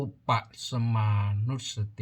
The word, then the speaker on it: อุปสมานุสสติ: ตอ เต่า สะ อิ ก็ อ่าน ว่า เอ่อ อุด ป่ะ สมา นุ สติ ผู้ แปล ว่า มี